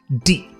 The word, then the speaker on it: 地: Is it di or de? Well, yes is the answer. Di is what's known as a duoyinzi, a multiple pronunciation character, and about 20% of Chinese characters have at least one other pronunciation.